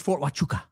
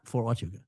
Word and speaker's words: Fort Huachuca: Say it right. Fort Huachuca. I knew I was going to say it a lot. Christ is king indeed. But yes, it's Fort Huachuca. It's not Fort Huachuca.